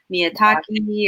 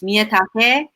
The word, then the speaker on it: Miyatake: say and pronounce, and I don't have to worry about my last name going like Miyatake or Miyataki, or it's Miyatake.